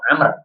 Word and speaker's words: Amr: Ibnu Umar dengan Ibnu Amr kalau Ibnu Umar itu setelah tidak ada wnya tapi kalau Ibnu am nah seperti ini Ibnu am ya setelah itu ada W itu cara membacanya jadi berbeda inialah dalil yang pertama